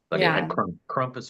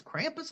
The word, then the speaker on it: Krampus: to the N degree kumus or Krampus it's Krampus I thought it was kumus it doesn't matter I'm